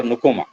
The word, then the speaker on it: Nkrumah: वन ऑफ the presidents of Ghana was a very great intellectual known as काओमे नुकुमा NKRUMAH African टा घाना गोटे African country तार pronunciation टा नुकुमा।